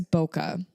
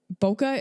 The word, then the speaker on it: bokeh: little bit different um the H at the end of bokeh was actually introduced to help English speakers pronounce the word correctly um so the official